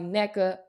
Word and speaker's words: Nneka: one basketball NECA andali NECA coach NECA as I like to say NECA Welcome to the podcast how you feeling how you feeling I'm good thanks for having me Ash that's exactly how you say my name whenever I call you